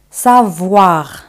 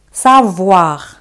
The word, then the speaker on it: savoir: El verbo saber en francés, savoir. OI se pronuncia como wa. Savoir.